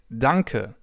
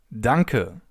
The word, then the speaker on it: danke: In German, the simplest way to say thank you is to say danker. Dunker.